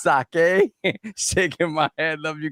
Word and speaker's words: sake: Pronouncing sake as saki is diabolical. It's sake shaking my head.